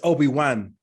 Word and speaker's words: Obi-Wan: It's Obi Wan. Yeah. W-A-N. Yeah. It's pronounced 1. They say 1 though. Obi Wan.